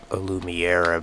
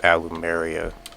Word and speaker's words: Allumeria: This game, Aloo Maria is what it's called. I sometimes I keep interally mispronouncing it as like alumiiera but it's pronounced alumia I assume this does kind of like resemble